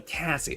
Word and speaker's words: Cassie: it Cassie or Casey is IT Cassie or Casey uh Cassie for one Casey for two one or two sorry I feel like I say it wrong but it's so wonderful to see you I hope you're having a beautiful day also or it it's one Cassie okay that's what I